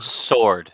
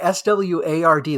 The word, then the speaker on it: sword: and a high familiarity word would be it's pronounced sword Santos oh no no SW WS sorry s Ward like a green sword like the like the